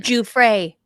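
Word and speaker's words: Giuffre: family of the late Virginia I can't never pronounce her name. Juy, thank you.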